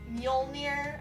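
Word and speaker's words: Mjölnir: themselves, be worthy of Mjolnir, I'm pretty sure is how you say it.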